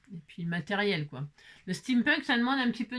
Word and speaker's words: steampunk: vintage, on aime le steampunk. Alors qu'est-ce que le steampunk ? Voilà, ça s'écrit déjà comme ça. S t E a m p n k steam punk. comme les punks.